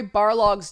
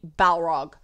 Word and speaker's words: Barlog: I'd look at it and read Balrog. See where my head's at, right? Nerd. But I had no idea that his name was actually Barlog.